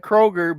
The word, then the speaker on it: Kroger: you went shopping at the Krogers it is Kroger Krogers I said that today